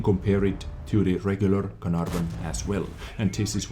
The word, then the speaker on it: Caernarvon: burn action X or Caravan action X as I like to call it but Carnarvon is as close as I can get to the correct pronunciation of this vehicle and test them I